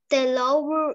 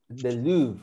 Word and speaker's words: Louvre: They visited the Louvre Museum. The Louvre. Fíjense cómo se pronuncia en inglés. The Louvre. O es francés, tal vez. No. Porque es francés, the Louvre.